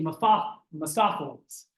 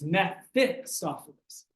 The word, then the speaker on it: Mephistopheles: And I noticed a lot of people don't like to pronounce that. They say Mephistopheles. It's Mephistopheles.